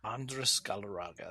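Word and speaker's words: Andrés Galarraga: Andres Galarraga, that's right.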